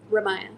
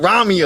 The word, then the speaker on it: Ramiah: your name wrong again please say it for me Raya Raya see keep saying Ramia I don't know I'm